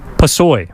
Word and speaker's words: Pusoy: Yeah, Pusoy.